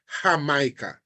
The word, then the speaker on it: Jamaica: know that in Spanish to say Jamaica in Spanish it's hamah all right that's the